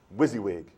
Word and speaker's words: WYSIWYG: how I break it down so students can pronounce it correctly and then what would it be I'm sure WYSIWYG WYSIWYG yes WYSIWYG WYSIWYG so I'll show you